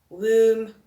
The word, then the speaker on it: womb: Then words that end with a silent letter, we've got tomb, we've got thumb, womb, bomb. Then we have dam, hem, column, and autumn. So common letters there, it's the N at the end and the B at the end.